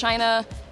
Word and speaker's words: Chyna: Now it's Chyna, not the wrestler, or the country, or the dishware. It's Chyna spelled with a Y.